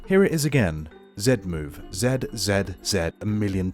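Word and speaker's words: Z-Move: loves how I pronounce Zed move here it is again Zed move Zed Zed Zed a million times Zed I am NOT American I do not say Z I am English sorry anyways let's get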